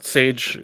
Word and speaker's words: Saej: Saej is like the spice is how you pronounce it.